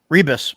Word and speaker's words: Rebisz: And with us I tonight is, I'm going to butcher the last name, Roger Rebisz. Rebisz.